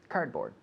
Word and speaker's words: cardboard: very good cardboard cardboard cardboard cardboard we the d Almost disappears The the D in the middle cardboard cardboard sorry cardboard